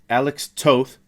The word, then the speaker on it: Alex Toth: influences and that's artist alex toth pronounced like both so if you know